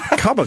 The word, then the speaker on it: Cuba: I can't believe we had Cuba Gooding Jr. and like that's over a month ago. Yeah. Cubba Gooding. That's actually the way his name is pronounced.